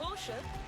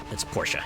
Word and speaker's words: Porsche: I did say Porsche when I first saw the word, but thankfully I have car enthusiast friends that are like, nah, it's Porsche. You pronounce it Porsche.